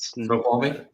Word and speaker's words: Snoqualmie: The whole area of, and I'm going to butcher these names. I think it's like Snoqualmie. How do you say it? Snoqualmie?